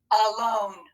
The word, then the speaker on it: alone: an a open syllable at the beginning of the word it's going to be the exception and make the schwa sound and remember what's that